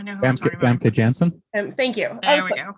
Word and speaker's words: Janssen: Famke Johnson. How do you say from X-Men? I recognize her. I know who I'm talking about. Famke Janssen.